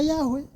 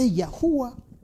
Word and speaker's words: Yahuwah: Y, H, W, H, não significa Yahweh, é Yahuwah. O último H é Yah. Então, aquele que pronuncia 3 letras, fala Yahu. Mas são 4 letras. Que é pronunciado Yahu. Yahuwah. Então, 3 letras é Yahu. 4 é Yahuwah.